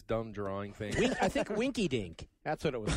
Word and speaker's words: Winky Dink: no, Winky Winky Dink rhymes with Shrinky Dinks.